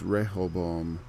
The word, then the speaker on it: Rehoboam: roboam ribeaux 'm a rebel is like a syllable missing there and Hebrew it's Rehoboam beget abaya and a bio begat ASSA a